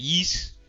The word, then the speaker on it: Ys: You still playing ye as he says it? Ye is actually spelled it's that's how it sounds phonetically, but it's spelled Ys. Like Y apostrophe S.